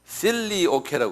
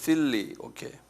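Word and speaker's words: filioque: 요 사건을 뭐라고 그러냐면요, 요 사건을요 필리오케라고 그래요. 필리오케. 이건 조금 유식한 말인데 이거 적어놓으세요. 필리오케 한번 발음해 보실래요?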